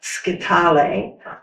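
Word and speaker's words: scytale: It's pronounced sketal.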